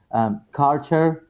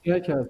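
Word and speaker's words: Kärcher: I think Lars, you were saying Karcher. Is it Yeah, Karcher? No, sorry. You pronounce Kercher. it Kercher. Kercher. Okay. Yeah. No, we pronounce it Kircher.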